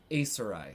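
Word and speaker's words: Aisereigh: Acerai.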